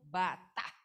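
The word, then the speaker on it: בטח: dari bahasa Ibrani ya dibacanya itu Batak ya Coba ucapkan sama-sama Batak sekali lagi Yang keras Batak ya nah jadi bukan latah ya bukan batagor nih ya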